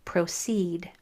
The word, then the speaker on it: proceed: So usually in a two-syllable word, that first syllable is accented, like concrete. But once in a while, that second syllable will be accented, like proceed. And that's when you'll see a double E sometimes at the end.